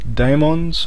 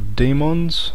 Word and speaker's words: daemons: This lesson will be about the Linux daemons or demons, depending on how you want to actually pronounce it. I tend to use them interchangeably, so you may notice at one time I'll say daemons and the next time I'll say demons.